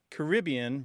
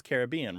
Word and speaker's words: Caribbean: in places ugly connection so your question is about the pronunciations Caribbean versus Caribbean right right and you say Caribbean right that pronunciation tends to be the preferred one when people have an opinion in North America both pronunciations are very common but Caribbean is used